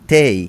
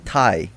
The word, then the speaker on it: Tay: It's actually Tay. It's not Tai, right?